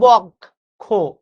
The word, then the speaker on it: বক্ষ: এই বক্ষ শব্দটা আমরা বলি বক্ষ। কিন্তু বাস্তবে এটার উচ্চারণ বক্ষ না। এটার উচ্চারণ হচ্ছে বক্ষ।